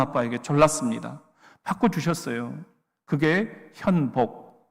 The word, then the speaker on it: 현복: 졸랐습니다 바꿔 주셨어요 그게 현복 문제는 발음이 너무 어려운 거예요 니은자 받침을 못하니까 이자로 발음을 하는데 항상 친구들은 행복 내 이름이 하나님이